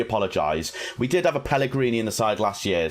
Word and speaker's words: Pellegri: in the comments that i was saying peligry wrong pellegri is how you say it i was calling it i was calling him pellegrini i could only apologize we did have a pellegrini in the side last